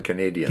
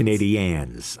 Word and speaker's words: Canadiens: Well, it's also the Montreal Canadiens, not the Canadians. Canadiens.